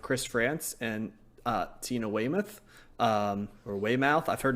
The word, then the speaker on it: Weymouth: talk about Talking Heads I've heard it both ways so at some point I will need to fully get accounting for that what would you go with Josh as yours I would say Weymouth Weymouth okay so a different variation of it so but but she